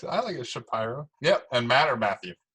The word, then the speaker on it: Shapiro: Talking with Matt Shapiro. Is that how you say it? Shapiro? I actually say it with a long I, Oh, yeah. Shapiro.